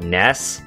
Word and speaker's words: NES: Nintendo Entertainment System and I know that Nintendo wants to call it ness even though it's spelled NES but I'm sorry I'm still sticking with NES for what it is because that actually just sounds a lot better not ness because when you when